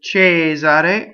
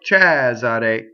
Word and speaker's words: Cesare: wicked real okay now the name J's are a can be said J's are a or Chaz are a however you like right chaser a is